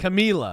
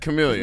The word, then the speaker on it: Camellia: They're not going to send him out a winner for the I don't Camellia Bowl think in he's beautiful retired. Montgomery, Alabama. His wife died. Camila.